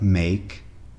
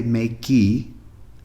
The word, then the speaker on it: make: If you've ever seen a verb like make, we don't say makey, we say make. The E only serves to make that prior A long.